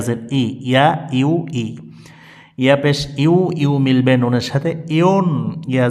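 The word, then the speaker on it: يُ: কি ভুলটা করে যেমন ইয়া পেশ অনেকে পড়ে উ না এমনটি হবে না এমনটি ভুল তাহলে সঠিক উচ্চারণ কি ইয়া পেশ ইউ ইয়া পেশ ইউ ইংরেজিতে যে একটা ইউ আছে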